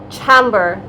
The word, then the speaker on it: Chambor: How do you pronounce Chambor, the makeup brand? Chambor.